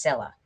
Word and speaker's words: Scylla: Obviously, this creature's name is pronounced Scylla. Wrong, it is actually pronounced Scylla, which I'm not even going to question.